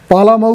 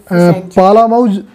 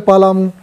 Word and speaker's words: पलामू: पालामऊ हो गया है ना, इसके बाद आते हैं पालामऊ क्या है ना, लटहार झारखंड, झारखंड में देख लो पहले पालामऊ, ये पालामऊ लिखा है इंग्लिश में, इसका प्रोनाउंसिएशन है हिंदी में इसको बोलते हैं पलामू, पलामू।